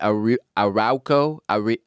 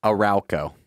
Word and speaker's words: Arauco: the majority of the early part of the arauco tell me how you pronounce this word hate this job a-r-a-u i would say c.o arauco arauco war thank you jared he fought and